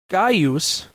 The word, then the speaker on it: Gaius: In classical Latin, it was pronounced Gaius Julius Caesar. Note that the first name, like the second, is properly pronounced in three syllables, not two.